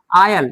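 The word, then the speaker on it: aisle: ठीक है ना, आयल, देखिए यहाँ पे एक विशेष शब्द में एस क्या है, साइलेंट है, AILE, आयल। एस क्या है यहाँ पे, साइलेंट।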